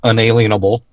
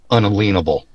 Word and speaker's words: unalienable: an unalienable right now listen to how I pronounce that not inalienable unalienable am I gonna have